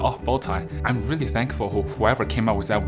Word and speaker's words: Botai: thought people couldn't pronounce my original name, which is Botai. Then I think that sophomore year in high school, I realized like the thing people wear is actually called Botai.